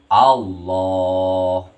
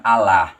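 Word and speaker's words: الله: Dengan lam jalalahnya dibaca tebal. Jadi dibacanya jadi Allah, bukan Allah.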